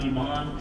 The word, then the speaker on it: Iman: I'm Iman. Iman. Iman. It's spelled I-M-A-N.